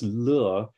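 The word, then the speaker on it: 乐: In Chinese medicine, by the way, the Emotion des lè, joy, was described in ancient times in the same way as the Chinese word for yào for medicine, or yuè, if pronounced like music.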